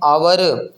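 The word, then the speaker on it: hour: एन आवर, आवर के अंदर जो एच है वो क्या है, साइलेंट है।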